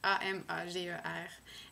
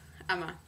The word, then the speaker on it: Amager: sur l'île je pense que ça se prononce Ama. Mais ça s'écrit, en français, j'imagine qu'on dirait en français Amager. A-M-A-G-E-R. Amager en anglais. Mais la prononciation danoise étant vraiment n'importe quoi. Ça se prononce apparemment Ama.